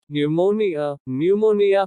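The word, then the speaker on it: pneumonia: न्यूमोनिया फेफड़ों की बीमारी। R is silent in some words.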